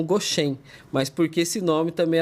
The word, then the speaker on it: Goshen: Como os fundadores eles são taiwaneses, eles não conseguiam pronunciar a palavra Gozen ou Gozen, pronunciavam como Goshen, mas porque esse nome também era familiar para eles, né?